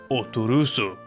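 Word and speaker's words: Orthros: old OS in Japan this character's name is pronounced U and was intended as a reference to orthos famed within Greek mythology when localizing the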